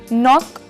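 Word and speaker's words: knock: silent है और घंटा ओनर सम्मान इसमें ह साइलेंट है नाक यानी खटखटाना इसमें केसर है वह चलना और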